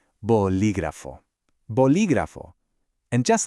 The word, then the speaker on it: bolígrafo: All right, let's put all the pieces of the puzzle together, making sure to put that stress on the second syllable, and we get bolígrafo.